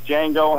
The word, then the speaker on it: Django: guess uh mike d'antoni loves django and chain because there's a lot of shots fired and the d is silent pretty good that's a